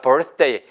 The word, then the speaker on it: birthday: 단 발음이 birthday 아니고요. 보세요. birth, birthday. birthday. 그래서 차라리 birthday, birthday, birthday. 어디 birthday가 나타나서 birthday? 이렇게 발음하시니 더 알아듣기 쉽다고요. 원어민한테는.